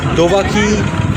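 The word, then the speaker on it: দোবাঁকি: দোবাকি camp. দেবাকি, খুব আমি উচ্চারণটা ভুল করলাম। এটা হচ্ছে দোবাকি, দেবাকি না, দোবাকি ক্যাম্প।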